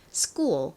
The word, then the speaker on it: school: 유의해 주셔야 될 것이이 기억 소리가 나는 알파벳 c s의 뒤에 오게 되면 크 소리보다 더 센 거의 쌍규 꽤 가까운 소리가납니다 그래서 한국식으로는 스쿨 이렇게 쓰지만 사실 크 발음보다는 스쿠어 이렇게 쌍기역에 가까운 발음이나요 자 그리고이 부분은 오를